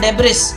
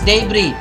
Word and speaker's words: debris: look it up okay it's not nebulous it's debris what's the next one